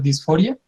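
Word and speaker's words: dys4ia: Este es un juego que se llama Dysphoria. Se escribe como Dis4IA, y es de una diseñadora que se llama Anna Antrophy.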